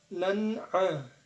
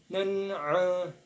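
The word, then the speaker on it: نَعًا: Nah, di sini ada hukum bacaan izhar halki. Mengapa? Sebab bertemunya fathatain dengan salah satu huruf izhar halki yang ada di tenggorokan, yaitu a. Maka kita harus membacanya jelas dan pendek sesuai dengan makhrajnya. Jadi cara membaca seperti ini.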